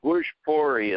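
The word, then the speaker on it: Bhojpuri: Bushpori is how they pronounce it. Bushpori. Bushpori. Thank you. There you got it.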